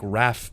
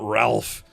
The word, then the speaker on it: Ralph: Yeah, it's like it's like Raph Fightens. It's not Ralph.